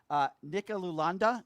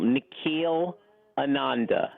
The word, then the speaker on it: Nikhil Ananda: Hey, Brian, I'll pronounce it for you. I know it's a mouthful. Nikhil Ananda. Gotcha.